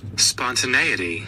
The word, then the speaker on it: spontaneity: to I get to look at how it's pronounced and what it even means. Spontaneity.